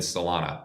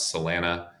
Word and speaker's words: Solana: It's a hop to get to Ethereum and Salana, which Tradfi will pronounce Salena or whatever.